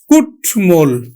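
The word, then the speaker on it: কুট্মল: সাথে আমরা উচ্চারণ করব এইযেট এর সাথে ম আছে এজন্য কি ম ফালার উচ্চারণ করব তাহলে আমরা উচ্চারণ করছি কিন্তু কুটমল আমরা উচ্চারণ করছি কুটমল লাস্ট কি আছে যে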